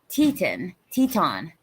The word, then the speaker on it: Teton: Teton, rhymes with yawn. It's French and was brought about by French settlers exploring and finding Twin Mountains, Wyoming, that looked like ladies' Teton, huh?